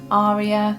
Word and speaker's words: Arya: her name quite differently, Aree-ya, Arya it's yeah always a little tricky to know which but I think Maisie Williams who plays the character prefers Arya herself so I'm going for